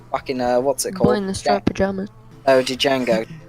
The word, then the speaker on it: Django: to start drama OD Django it's not judge a go it's Django no no that's like the things hope you don't pronounce the D and my name it's only django Django Unchained good [